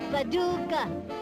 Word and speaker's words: Paducah: Paducah, Paducah, if you wanna, you can rhyme it with bazooka, but you can't poo-poo Paducah.